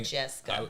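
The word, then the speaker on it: Modjeska: Was it spelled like M-A? M-O-D-J-E-S-K-A. Oh, I was thinking. Majeska.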